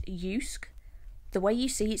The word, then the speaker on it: Jysk: It's pronounced Jysk. The way you see it spelled, you would kind of pronounce it Jysk, but it is pronounced Jysk.